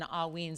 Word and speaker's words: Haüyne: So again, if you're curious, it's usually pronounced within, like, think AW, or like, like like you're yawning, and then ween, like W-E-E-N.